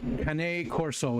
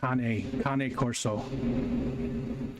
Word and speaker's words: Cane Corso: Cane Corso is how it's pronounced. Cane Corso.